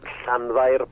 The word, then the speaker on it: Llanfair: And the abbreviated, the short version we use is Llanfair Pwll, which is just using the first part of the name.